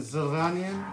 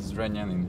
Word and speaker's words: Zrenjanin: So this is how we end up in Zrenjanin.